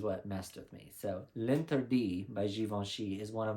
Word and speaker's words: L'Interdit: And it did take me a while to learn how to properly pronounce that, so don't come for me. I did watch the video, and it's L'Interdit by Givenchy.